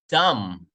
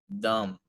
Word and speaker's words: dumb: silent B we say Wednesday Wednesday walk walk dumb dumb dumb well I'm B dumb dumb dumb home